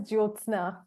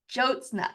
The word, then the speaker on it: Jyotsna: pronounce your name for us my name is jna jna it's very I knew pronounced it perfectly thank you yeah okay I